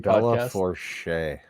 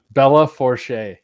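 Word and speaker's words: Belle Fourche: I think it's pronounced Bella Forche. Bella Forche.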